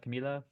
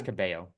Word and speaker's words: Cabello: One of the other one, like if the L's aren't pronounced in her last name, then it's pronounced in her first name. Yeah, it's pronounced in the first name, not pronounced in the last name.